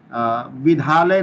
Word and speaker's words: विद्या: जैसे विद्या हम लोग लिखते हैं ना, तो विद्या को विधा नहीं कहते हैं, विधा कहेंगे तो उसका अर्थ का अनर्थ हो जाएगा। विद्या मतलब पढ़ाई हो गया, सरस्वती, और विधा हो गया मतलब तरीका, किस विधि आए।